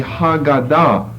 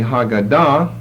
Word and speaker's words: Haggadah: then the second half was known as the hagada h-a-g-g -a-d-a-h which comes from the verb who God oh